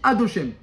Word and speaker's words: Adoshem: Et même son nom, Yudke Vavke, on ne peut même pas le prononcer, tellement il est élevé. On dit Adoshem.